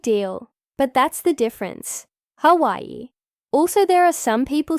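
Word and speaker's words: Hawaiʻi: The W makes a V sound since it's surrounded by vowels. And then we have an okina and an I, hence Hawaii.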